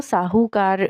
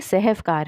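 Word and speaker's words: سہو کار: लोग इसको साहूकार के नाम से जो है वह लिखा गया है। जबकि यह सहफकार है।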